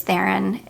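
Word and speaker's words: Charlize Theron: this perfume was and how iconic the Charlie's theen that's how you say her name theen Theon um ads were oh my gosh so anyways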